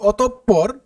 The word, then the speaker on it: অতঃপর: বর্ণটি দৃত্ত উচ্চারিত হয় যেমন অতঃপর যেমন দেখো এই যে বিসর্গের পরে কিন্তু যে পে যে বর্ণটি আছে এটা কিন্তু দৃত্ত উচ্চারিত হবে তার মানে যে বর্ণের আগে বিসর্গ থাকবে সে বর্ণটির উচ্চারণ কি হবে দৃত্তমা দুইবার উচ্চারিত হবে দেখো এখানে প কিন্তু দুইবার উচ্চারিত হয়েছে একইভাবে আমরা বলতে পারি